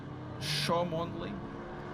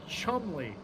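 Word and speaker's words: Cholmondeley: Chomondley. Yeah, you'd think that, but it's an old English name. It's pronounced Chumley. You know, it's not Worcestershire sauce, it's Worcestershire.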